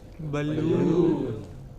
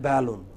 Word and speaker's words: balloon: Balloon. But wrongly we say balloon. It is not balloon. It is balloon.